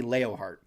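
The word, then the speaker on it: Leonhart: I don't understand how you can have a character named Annie Leonheart and have everybody, it's L E O N H E R T. They say her name is Annie Leohart.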